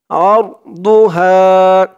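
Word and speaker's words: عرضها: আরদুহা, আইন দিয়ে র ধরবে, আরদুহা, বু, দোয়াদের উচ্চারণটা খেয়াল করবেন। বু, একেবারে দু বলা যাবে না, দু বললে কিন্তু দালের উচ্চারণ হয়ে যাবে।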